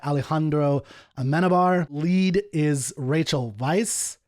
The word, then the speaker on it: Weisz: Lead is Rachel Weisz. I think it's it with the V, I believe is how you pronounce that.